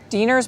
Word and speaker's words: Diener's: Diener's Bulk Foods and Candy. Diener's? Okay, I was wondering how to pronounce that. Diener's Bulk Food and Candies. You got it.